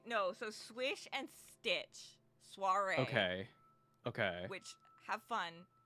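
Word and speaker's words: soirée: So Swish and Stitch, soiree. Okay. Okay. Which have fun. If like me, you have a bit of a lisp. Sorry. Soiree is how you pronounce it.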